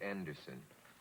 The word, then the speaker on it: Andersson: I say Andersson. Andersson. Andersson. Is Bibi right? Yes. Okay, then I'm half right. Perfect pronunciation.